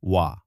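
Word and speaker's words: は: যদিও এটি হা লেখা হয় কিন্তু উচ্চারণ করা হয় ওয়া।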